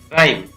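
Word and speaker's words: rhyme: Next है, शब्द के प्रारंभ में अगर RH हो तो इसमें H का उच्चारण नहीं किया जाता है। जैसे राइम, राइम है, अब यहाँ पर H का उच्चारण नहीं किया जाता।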